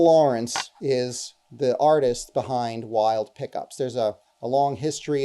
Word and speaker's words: Wilde: This is from Wild Pickups. Okay, it's spelled Wilde.